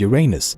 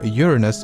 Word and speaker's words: Uranus: Earth's can fit inside Uranus both pronunciations are correct by the way but astronomers and most of the scientific community seems to prefer Uranus over Uranus my personal preference is